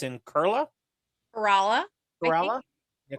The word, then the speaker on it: Kerala: Debbie, help me with the pronunciation. It's in Kerala? Kerala. Kerala? Yeah, Kerala, India.